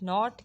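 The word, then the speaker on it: knot: Okay, let's move toward the next word, that is not, K-N-O-T. Not, K is silent here, and the correct answer is joint or tie in something.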